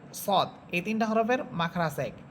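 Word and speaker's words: ص: আকার ছাড়াই পড়তে হবে এরপরে হরফ যা সিন সদ এই তিনটা হরফের মাখরাজ এক অর্থাৎ জিহ্বার আগা সামনের নিচের দুই দাতের আগার সাথে লাগাবেন আমরা কিন্তু জালেরটা পড়েছিলাম উপর উপরের দুই দাতের আগার সাথে আর যা সিন সদ এই তিনটা হরফ নিচের দুই দাতের আগার সাথে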